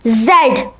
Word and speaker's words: Z: you're from these countries UK Ireland Canada Australia New Zealand and South Africa these countries pronounced zed zed if you are from